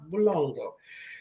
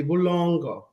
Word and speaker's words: Bulongo: was saying we have Bulongo, she says, "Is he Kawande?" I said, "No, he's actually Tonga." Then she goes, "Well, then you're saying his name wrong. It's supposed to be Bulongo.